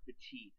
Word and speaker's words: Petit: came up huge or petite actually that's how it's pronounced please excuse my bad